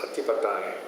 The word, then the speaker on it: Ādhipateyya: Ādhipateyya is a very interesting word. The Thais pronounce it as att'ādhipateyya.